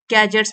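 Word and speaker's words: gadgets: using their electronic गैजेट्स गैजेट्स में D silent होता है वाइल क्रॉसिंग बिजी रोड्स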